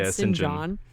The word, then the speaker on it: St. John: She ends up begging for food until this little family, Mary, Diana, and Sinjin. I guess it's Sinjin. It says St. John, but it's said Sinjin.